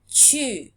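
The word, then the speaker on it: 中: And this is pronounced chu, chu, chugakko, chugakko, okay?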